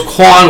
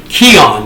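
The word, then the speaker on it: Quion: given the NCAA band from the postseason I mispronounced his name I said his name was Quan Williams not true listen to Boynton sound it out it's actually Keon that's the Annunciation and even though it's spelled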